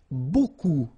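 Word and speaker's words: beaucoup: bit strange like that remember you don't pronounce the final P okay and then you get this combination of vowels a and you get the sound o so technically it's B okay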